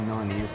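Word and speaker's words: Milanese: or anything I would love to try the melanese band am I you pronouncing that correctly yep yeah so with this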